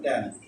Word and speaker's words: tan: উচ্চারণ হলো ট্যান, ট্যান, টান না, উচ্চারণ হলো ট্যান।